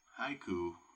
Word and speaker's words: haiku: Like haiku, and I'm going to bring up the word haiku, right? Right there. Haiku is ha-i-ku if it's written out.